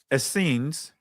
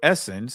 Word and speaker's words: Essenes: Now there was one of these Essenes, or Essenes, however you want to pronounce it, whose name was Manaen.